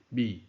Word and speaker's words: 覔: 读音就是米，轻声米，意思不见大藏。